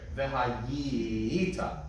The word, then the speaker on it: V'hayita: V'hayita. Right, gotta do that extra syllable so we don't end up putting the accent on the top.